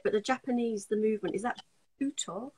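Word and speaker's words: Butoh: And I don't know how to say it, but the movement, is that Buto? How do I? Buto, yes.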